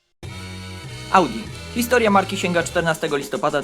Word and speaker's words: Audi: hor oznacza Słuchaj słyszeć a to słowo w łacinie wymawia się Audi nazwa spodobała się Augustowi